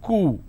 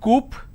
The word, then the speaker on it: coup: derivatives apartment disagreement dislodge c-o-u-p is coo it's not coop or cow it's coo isolation quarantine gesture lot